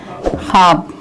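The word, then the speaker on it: خواب: ख्वाब देखिए खे प्लस वाव प्लस अलिफ प्लस बेस में वाव साइलेंट रहता है, ख्वाब।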